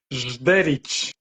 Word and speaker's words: Žderić: Y lo otro, tu apellido, ¿cómo se pronuncia? Zderich.